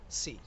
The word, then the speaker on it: sí: La siguiente palabra es sí, cuando quieras afirmar. El problema es que en coreano S más I se pronuncia shi, pero en español S más I se pronuncia sí.